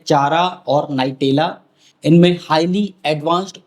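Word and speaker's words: Chara: सर इसे पढ़ते क्या है, चारा या कारा या चारों ही पढ़ दें? वैसे इसका सही उच्चारण तो होता है चारा, क्योंकि ये चेरोफाइट डिवीजन का मेंबर है।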